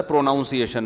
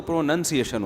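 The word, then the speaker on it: pronunciation: تو ہمارے استاذ نے بتایا تھا پروناؤنسیشن نا، تو کسی نے بتایا پروناؤن تو ٹھیک ہے، پروناؤنسیشن جب ہوگا تو پروننسیشن ہوتا ہے.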